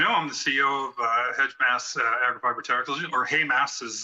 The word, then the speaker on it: Heimas: As you know, I'm the CEO of Heimas Agrifiber Technology, or Heimas is the better pronunciation.